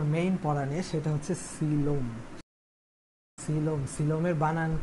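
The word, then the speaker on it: coelom: পড়া নিয়ে, সেটা হচ্ছে সিলোম। সিলোম, সিলোমের বানান কি, এই বানানটা মনে রাখো, সিলোম। কোয়েলম, কেউ আবার কোয়েল বইল না, কোয়েল মল্লিক না কিন্তু এখানে, সিলোম। এই সিল, এই উচ্চারণটা হচ্ছে সিল।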